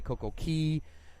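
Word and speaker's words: CocoCay: they call it but it's really pronounced key because that's how the locals pronounce it and Nick I'm gonna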